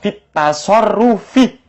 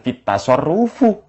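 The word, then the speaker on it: في التصرفِ: Kalau lafaz at-tasarruf kemasukan fi, bacanya fit tasarrufi, bukan fit tasarrufu.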